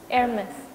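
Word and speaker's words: Hermès: Bacanya gimana sih? Hermes.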